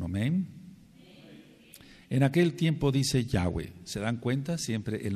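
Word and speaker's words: Yahweh: y una H Y entonces el nombre se pronuncia yah yahwe ahora lógico que en un principio puede uno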